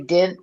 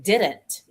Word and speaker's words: didn't: Oh, you got you say din't d i n t? Some No, I say didn't. I pronounce the t didn't.